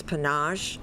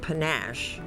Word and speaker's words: panache: There are two pronunciations, panache and panache.